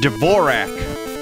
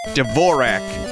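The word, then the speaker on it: Dvořák: New World Symphony by devorah Dvorak I believe is how you say that that's right Dvorak culture awful screen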